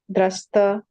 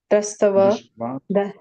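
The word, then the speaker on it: दृष्ट्वा: Atha vyavasthitan drastava Drishtva. drastava. So the A, if there's a dash over it, becomes A. Okay. Yeah. Atha vyavasthitan drishtva.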